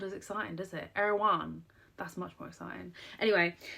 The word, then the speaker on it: Erewhon: an American accent, but Erewhon. I say Erewhon, but I think that's just the American way, and I have to say Erewhon. It just doesn't sound as exciting, does it? Erewhon.